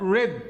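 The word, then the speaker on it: read: الجمع وريدز مع المفرد الماضي منه ريد يتكتب ريد عادي زي ما هو بس يتنطق ريد زي كلمه احمر والتصريف الالت ريد ي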